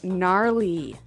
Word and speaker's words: gnarly: the ski instructor say gnarly gnarly run yeah gnarly so an interesting word it's spelled g n a r l e y okay so but you don't say gnarly no you say gnarly yep and a related